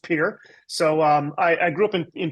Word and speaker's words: Pierre: I grew up in a town called Pierre, which should be pronounced Pierre, but it's pronounced Pierre.